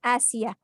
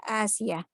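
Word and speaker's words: آسية: Aisyah, Asia ini namanya bisa terbalik ya, jangan sampai terbalik membacanya. Aisyah dan Asyah. Aisyah dan Asia. Asia tulisannya itu alif yang pakai bendera ya. Alif pakai bendera, sin, ya dan ta marbuthah ya, Asia.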